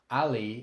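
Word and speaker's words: alli: Double L but notice Ali is spelled with two L's but only pronounced as if there were one L this is just one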